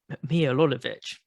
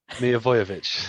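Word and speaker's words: Milivojević: It was like, and Milolovic was like, I can't, it was like, go screaming at the ref. I know I've said his name wrong again. I know you're smiling. Milivojevic.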